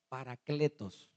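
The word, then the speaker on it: παράκλητος: En griego el término consolador significa o se escribe o se pronuncia paracletos.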